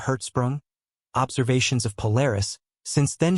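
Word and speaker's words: Hertzsprung: by Danish astronomer edner herzsprung pronounced in herzsprung observations of Polaris since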